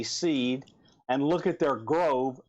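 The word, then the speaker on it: Seeed: to a company called seed and that's spelled s with three e's and a d seed and look at their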